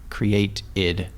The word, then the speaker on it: createid: But it's it's spelled C R E A T E I D. Create IID.